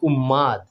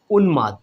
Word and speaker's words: উন্মাদ: কিছুটা এরকম উন্মাদ কিন্তু আমরা ভুল করে অনেক সময় এটাকে ম উচ্চারণ করি উম্মাদ উম্মাদ না উন্মাদ ঠিক আছে এখানে ন